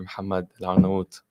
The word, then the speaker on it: Mohammed Al-Arnawoot: And we have someone who is Muslim and involved in this industry and is an entrepreneur as well, Brother Mohammed Al-Arnawoot. Did I Assalamu pronounce alaikum.